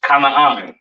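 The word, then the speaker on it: כנען: This is pronounced Kanaan, all right?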